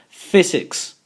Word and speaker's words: physics: to mention is that when we have the combination p h the pronunciation will be like an F in our language and also in the last one you can see the same example physics physics physics and physics